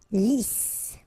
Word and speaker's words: lisse: Double S here, so it's really a strong S. Lisse.